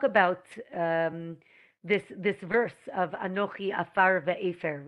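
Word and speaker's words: עפר: The word for dirt is afar. Afar, spelt with an ayin.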